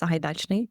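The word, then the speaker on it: Sahaidachny: partners when it comes to you know the Zahidachnney security center and it's pronounced Sahidachnney by the way and I I know that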